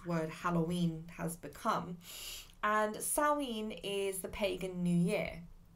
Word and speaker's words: Samhain: word around it's actually spelt samhain but it's pronounced salween which is where today's word halloween has become and salween is the pagan new year it's um it's